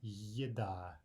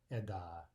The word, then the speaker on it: еда: So for example, we see the word food, that will be yeda, not eda, or something like this.